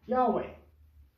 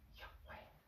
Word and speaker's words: Yahweh: Now, we believe that that is pronounced Yahweh. Now, it's not just supposed to be sound like that much tone in your voice. It's more like a breath. Yahweh, something like that.